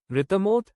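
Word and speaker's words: רתמה: आज हम दो महत्वपूर्ण सुरक्षा उपकरणों को हिब्रू में उच्चारण करना सीखेंगे। पहला शब्द है रितमोत या एकवचन में रितमा।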